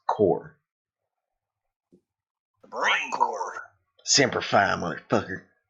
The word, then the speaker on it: Corps: Marine corpse cor okay it sounded like he said corpse dead it's it's spelled corpse but it's core brain core sfy [